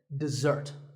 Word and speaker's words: dessert: word this is dessert notice that the first syllable is dip and the second starts with a Z sound we stress the second syllable dessert this word refers to